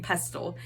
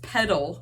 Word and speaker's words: petal: the past couple videos I've been saying pestle it's petal pink but I dyed it